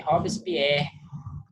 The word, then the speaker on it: Robespierre: Atenção, eles são franceses, tá? É Robespierre, bom? Danton. Roberto Spierre. Aí tem muita gente que falou Denton, Robespierre, tá?